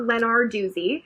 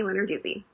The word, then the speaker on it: Lenarduzzi: just so we're clear it's not lennar doozy it's not letter desi it's sunny lenarduzzi so just in case